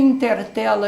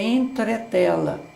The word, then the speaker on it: entretela: num comércio e pergunta, você tem intertela aí? Intertela. Veja, também utilizou o E, o substituiu na pronúncia por I. E a palavra correta é entretela.